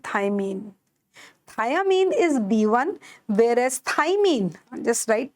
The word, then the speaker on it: thymine: Thiamine is B1, whereas thymine, just write thymine is the base of DNA.